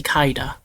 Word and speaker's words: Kaida: This case has already gone beyond the innocence or guilt of the foreigner Galaxy Kaida, which rhymes with Kaiba.